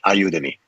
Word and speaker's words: IYOUTOME: That's IYOUTOME, which means help me in many languages. The pronunciation, iyoutome.